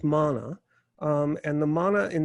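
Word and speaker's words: manna: represents the um the mana in the desert the um or it's sometimes mispronounced or anglicized to mana but it is mana um and the mana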